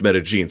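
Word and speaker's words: Medellín: Because I can tell you, if you go to Colombia, where the city is, by the way, it's pronounced Medellin.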